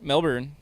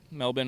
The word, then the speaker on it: Melbourne: Thursday here in Melbourne Melbourne melbour it's pronounced melbour right Melbourne Australia there's an r in there somewhere I don't think it's pronounced though I think it's Melbourne